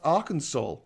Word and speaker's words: Arkansas: And Arkansas, which is pronounced Arkansas.